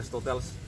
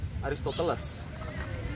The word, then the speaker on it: Aristoteles: Lain-lain kalau misalnya Aristoteles, jadi tulisan namanya itu, redaksi namanya itu Aristoteles. Tapi kalian jangan baca Aristoteles, ya. Nanti kelihatan cupu. Bacanya itu, spellingnya tuh Aristotel, Aristotel.